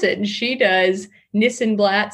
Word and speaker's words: Nissenblatt: ma rhymes with Panama uh to help them pronounce it and she does Nissan blat sounds like this and that um so it's